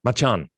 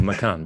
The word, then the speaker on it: Macan: Now I can finish off with the Porsche Macan or Macan. We're constantly corrected on how to pronounce it.